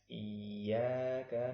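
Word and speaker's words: إِيَّاكَ: Iya, bukan i, tidak boleh dibaca dengan i. Tapi bacanya Iyyaka na'budu wa iyyaka nasta'in.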